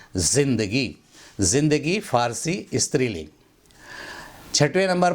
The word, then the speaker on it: ज़िंदगी: उसके बाद 5वें नंबर पर देखें, इसको ज़िंदगी बोलते हैं लोग। ये गलत तलफ़्फ़ुज़ है, इसको बोलना चाहिए ज़िंदगी।